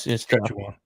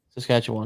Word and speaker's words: Saskatchewan: You did good by actually pronouncing it correctly. No, it's Saskatchewan. Saskatchewan.